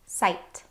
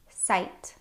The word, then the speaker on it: sight: There are lots of words that have this IGH pattern in them, and they all make a long I sound. Some examples are Sight. Sight.